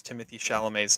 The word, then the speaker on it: Timothée Chalamet: It's in my honorable mentions, and Adam, one of these days you will learn how to pronounce Timothée Chalamet's name.